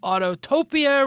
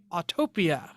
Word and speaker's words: Autopia: We're going to talk about Autotopia. We're going to talk about Radwood. We're going to talk One about T. Autopia. excuse me, Autopia.